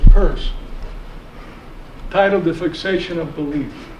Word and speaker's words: Peirce: An article by Charles Sanders Peirce, pronounced Peirce, titled "The Fixation of Belief."